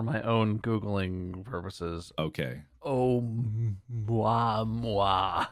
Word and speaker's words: Oumuamua: This event would predate the discovery of Oumuamua by about 3 years. Oh, I'm sorry. What? You know, Oumuamua. I'm going to try and spell that for my own Googling purposes. Okay. Oumuamua. Oumuamua.